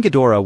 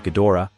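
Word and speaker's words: Ghidorah: sounded more like Hydra in the American dubbed version of invasion of astromonster he was called a king gadora with the O syllable unemphasized he was simply called a gadora in the English dubs for Destroy All Monsters with the go is stressed in the international English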